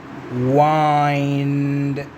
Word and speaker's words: wind: أنا وياك بحكايتك إنه WIND تلفظ ويند، ولكن إلها نطق ثاني هو waɪnd، وعلى مود ترهم واي فايند لازم أحول الإ مال ويند إلى I على مود تصير waɪnd، على مود تصير find. ذاك تناغم القافية.